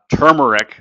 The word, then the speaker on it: turmeric: So we've been taking the spaghetti squash, we've been mixing turmeric, or as I was corrected again on my pronunciation, turmeric. There's actually an R there.